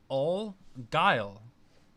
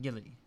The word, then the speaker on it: Guile: It's pronounced Guile, not Gilly.